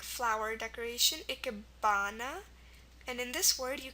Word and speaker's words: ikebana: With A, we have ikebana, which is like flower decoration, ikebana. And in this word, you can see it right here. The ah sound is spelled with an A.